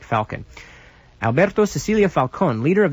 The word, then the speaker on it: Falcon: all Alberto Cecilia Falon the last name name is spelled s i c i l i A- f a l c o n like Falcon Alberto Cecilia Falcon leader